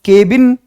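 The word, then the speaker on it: cabin: आपको दिख रहा है यह ऑफिस केबिन इसको केबिन नहीं कबन कबन आगे नेक्स्ट ये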